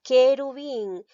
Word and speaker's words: querubín: U y la E, pero pronuncia la palabra querubín. ¿Estoy pronunciando la U? ¿Esta U lo pronuncio? No. Por lo tanto, aquí no hay dos vocales seguidas, solamente hay una. Entonces, esta palabra no tiene diptongo, porque recuerda, el diptongo se produce cuando hay dos vocales seguidas. Y en querubín no pronuncio la U.